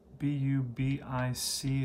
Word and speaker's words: Bubic: His name is Chris Bubic. B-U-B-I-C. It's pronounced Bubic.